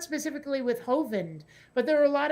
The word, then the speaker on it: Hovind: i'm like you know i could see that if there was an e on the end of it but it's clearly hovind yeah that seems if